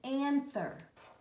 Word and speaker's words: anther: there is called an anther and it rhymes with antler who has antlers a